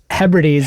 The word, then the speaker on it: Hebrides: So let's tell us a little bit about bagpipe practice, the Sea of, how do you say it? Hebrides in Scotland? Hebrides.